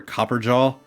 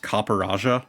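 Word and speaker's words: Copperajah: Copperaja, or Copperjaw, which is how I always pronounced it, but apparently it is pronounced Copperaja.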